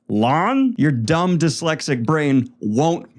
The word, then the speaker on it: Lan: the Greenbone Saga where the name Lan is pronounced Lon, your dumb dyslexic brain won't make the shift.